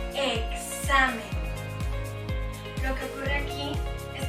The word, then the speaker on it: examen: Esta X puede pronunciarse como una K seguida de la consonante S. Examen.